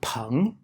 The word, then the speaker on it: 硼: element boron is called pong in mandarin chinese and because this sounds like the word for friend the character for boron